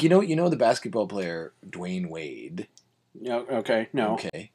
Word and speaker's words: Dwyane: So Dwayne, Uh-huh. in this case of this particular gentleman, Mm-hmm. is spelled DWYANE instead of DWAYNE. So like, if you try to pronounce it, it's like Dwayne.